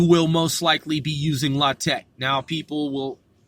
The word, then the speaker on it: LaTeX: like a prophylactic rubber often you'll hear lock Tech or lay tech but it's not latex okay so get that